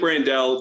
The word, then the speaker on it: Brandel: here I'm starting to say that again Blake brandell is that the correct pronunciation yes well I I yeah I think